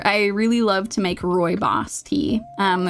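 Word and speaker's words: rooibos: So, Roy Boss, I'll actually let me write how to spell that cuz it is not intuitive how it is pronounced.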